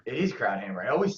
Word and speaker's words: Krauthamer: Krauthamer. It is Krauthamer.